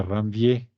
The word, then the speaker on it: Ranvier: O nodo de Ranvier, si quieren hablar bien en francés, sin pronunciar la R.